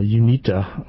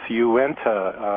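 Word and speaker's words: Uinta: basin tar sand's mind so it's probably uh yita or something. Uh welcome. You're going to help me with pronunciation here. Good morning Steve. Yeah sure. Uh Okay, that's and it's Uenta uh Utah is actually a nation uh with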